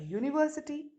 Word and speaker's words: university: and unclean but a university you university uncle oh-oh-oh university so that is right the you at the beginning of university sounds like you know right this rule